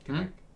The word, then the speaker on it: Quebec: How do you pronounce it? Quebec. Quebec. Quebec. Yeah. Say again? Quebec. Quebec. There you go.